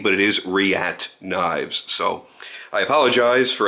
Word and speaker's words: Reate: weeks ago uh did find out it's not riti but it is riat knives so I apologize for anybody whom I